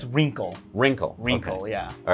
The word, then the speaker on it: Reencle: the name of it well it's uh it's wrinkle wrinkle wrinkle yeah all right I've been pronouncing it wrong I know I thought it was rain soul but it's wrinkle and uh yeah this is